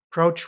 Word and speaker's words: Crouch: Jazz critic named Stanley crouch crouch rhymes with grouch and he was notoriously